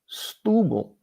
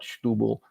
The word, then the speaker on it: Setúbal: And obviously it's not bal because it's Portuguese. And you just sort of swallow those vowels.